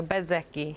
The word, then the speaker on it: Bezzecchi: where I'm where I'm coming from the the Zet is not really well pronounced. So, Bzeki Bzeki.